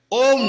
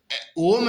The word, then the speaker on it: ओम: ओम है ना, इसमें अ उ म, ये नमः शिवाय।